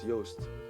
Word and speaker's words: Joost: and they call me, because my name is Joost, right, my Dutch name, but like, no one can pronounce that, so they call me, like, you know, yes.